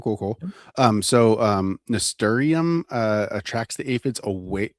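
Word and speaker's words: nasturtium: Um so, um ntorium uh attracts the aphids away. Is it is it ntorium? Is that how you pronounce that?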